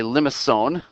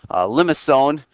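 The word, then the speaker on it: limaçon: All right, so this graph that we just saw there is actually what's called a limacon. That C is pronounced as an S, actually.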